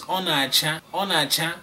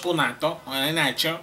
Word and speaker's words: Onacha: Onacha, not onato.